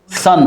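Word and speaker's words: son: आएगा जैसे सन जैसे सन तो इसको ऐसा लिखा जाता है एस य एन या एसओ एन दोनों का उच्चारण एक ही है इस तरह से लिखेंगे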